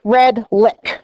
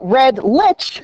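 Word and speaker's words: Redlich: My maiden name is Red Lick, right? But it's spelled with a CH at the end. So Red Lich is what I got all my life.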